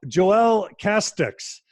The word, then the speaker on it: Joelle Casteix: And you guys are in for a treat because for the first time ever on Mormon Stories podcast, we have Joelle Casteix. Is that how I pronounce it, Joelle?